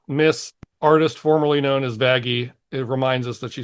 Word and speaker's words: Vaggie: I'm Vaggie, the E is silent.